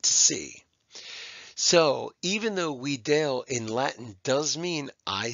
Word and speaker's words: video: in Latin is pronounced we Dale that V is actually a w sound or a u we Dale we Dale and it